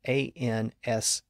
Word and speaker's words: answer: It's spelled A-N-S-W-E-R, but we don't pronounce the W. It's not answer, it's answer.